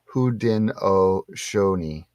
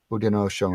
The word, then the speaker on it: Haudenosaunee: pronounced Haudenosaunee. Haudenosaunee.